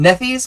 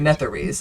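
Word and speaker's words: Netherese: ancient humans um particularly the netheries I think is how it's pronounced um nepheus maybe um no nepheus was that MP that dude we played with that one time netheries I believe is correct netheries okay um basically the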